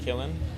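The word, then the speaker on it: Qilin: the 4th, which is a Kirin or Kilin, depending on if we're talking Chinese or Japanese pronunciation.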